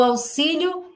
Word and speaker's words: auxílio: então o som do auxílio é como se fossem dois ésses auxílio não falamos auxílio o